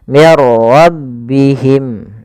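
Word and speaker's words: من ربهم: Karena dia bila gunah tanpa disertai dengan gunah maka dia tidak boleh ditahan mirbihim. Enggak tapi langsung saja mirbihim.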